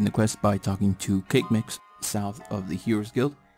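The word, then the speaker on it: Kaqemeex: begin the quest by talking to cake mix south of the heroes guilt and yes apparently that's how you pronounce his name moving on choose the chat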